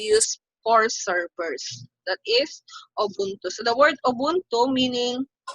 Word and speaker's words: Ubuntu: the linux based os we have the ubuntu pronounced as ubuntu it is an open source debian-based linux distribution